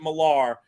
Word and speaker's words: Miller: He pronounces it Millar, the U.S. way. There's so many English people who have that name and they say Miller, so I get confused sometimes.